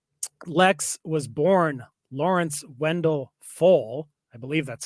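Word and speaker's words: Pfohl: was born Lawrence Wendell fo I believe that's how you say it believe the p is silent June 2nd 1958 and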